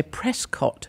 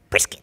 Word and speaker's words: Prescott: And there was also a place called, what I would say, Prescott, but you would say Prescott. No, we'd say Prescott. No, you don't. You say Prescott.